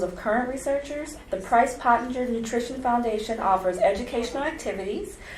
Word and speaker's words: Pottinger: Pottinger. Am I pronouncing that right? Yes. Is it Pottinger? Yep, Pottinger.